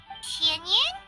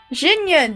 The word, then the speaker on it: Xinyan: Xianyan? Xinyan, that's how you say Xinyan.